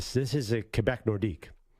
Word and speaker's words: Nordiques: could oh the Quebec nordiques they're great it says no nordique I'm like it's nordics it's a team and he said the s in French is silent so I'm like oh